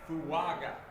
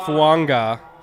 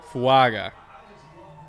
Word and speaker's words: Fuaga: right faga all right fuaga not fanga fuaga for those wondering how to pronounce the last name there's been a little